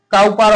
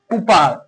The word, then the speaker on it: Cowper: পারে কাউপার বলি কিন্তু এর উচ্চারণ কাউপার হবে না কুপার এর উচ্চারণ কুপার হবে